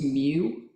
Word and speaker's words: mu: this symbol right here that is pronounced mu like Mewtwo it's spelled mu I